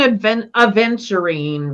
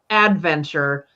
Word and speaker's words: aventurine: These green aventurine rocks were just yelling at me. They're in my fountain, and I love green aventurine because it isn't actually pronounced or spelled adventure, but that's what it means for me.